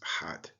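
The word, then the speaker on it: ḥꜣt: Just below that, we have the loaf of bread, the water jug, and the forearm of a lion, which is transliterated H-A-T and pronounced hot.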